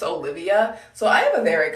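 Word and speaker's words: Oliwia: different like i think in poland it's spelt like o l i w i a but it's still pronounced olivia so i have a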